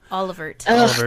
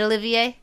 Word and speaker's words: Olivier: Alan and Prince Olivier Olivier art Oliver / don't say it like that oh I know it's how they say it but it's not they okay is it Olivier yeah that's how I say it because you know it's a French name I might worry on